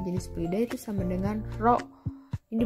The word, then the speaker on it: rho: fluida atau massa jenis fluida itu sama dengan rho. Ini dibacanya rho ya.